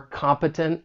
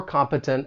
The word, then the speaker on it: competent: If I were to say he is competent at his job. For pronunciation, the stress is on that first syllable and the final syllable has that schwa sound, that uh sound.